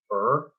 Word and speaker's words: Urh: uh my comic idea it's called warriors of er and it's spelled urh and um it has to it